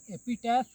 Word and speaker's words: epitaph: सबसे छोटा पोएम है एन एपिटैफ या एन एपिटाफ। Oxford advance dictionary के अकॉर्डिंग दोनों प्रोनाउंसिएशन सही है, एपिटाफ और एपिटैफ दोनों सही है।